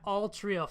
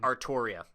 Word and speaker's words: Artoria: And he's just like, yeah, Altria fell for that one all the time. Artoria. I'm not accepting of it. It's Artoria. It's pronounced.